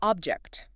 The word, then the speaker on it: object: That object on the table. Stress on the first syllable. Object. Put the verb to disagree. I object to this decision. Stress moves again. Object.